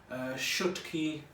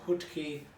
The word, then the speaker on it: Shutki: We call it Shutki or Hutki, however you like to pronounce it. In Sylhet I think they call it Shutki, and I used to love eating this when I grew up.